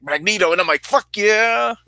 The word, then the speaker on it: Magneto: on like we some of my friends would pronounce Magneto instead of Magneto and that always threw me